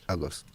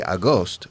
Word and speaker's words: August: August. August. August. Yes. If you say Agost, people understand un fantasma.